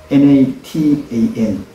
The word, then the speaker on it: natan: 히브리 말로는 나단이라고 부릅니다 natan 나타난 그런데요이 단어의 특징이 있지요 natan 거꾸로 해도 나타 바로 읽어도 나타난 앞으로든 뒤로든이 단어가 만들어진 그 단어의 순서는 발음은 똑같다는 이야기입니다 그래서이 단어가 만들어진 배경이